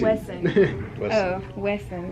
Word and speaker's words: Wesson: Wesson. West. Wesson. No T. Wesson.